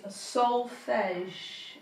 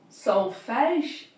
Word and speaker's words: solfege: So the word is solfege, and it's spelt SOLFEGE.